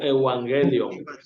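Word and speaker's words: εὐαγγέλιον: sigue to evangelion to evangelion acuérdense que la doble gama se pronuncia como ng evangel Buenas Nuevas el evangelio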